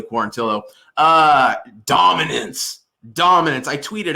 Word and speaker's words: Quarantillo: want to say quarantio i think it's actually pronounced billy quarantillo uh dominance dominance i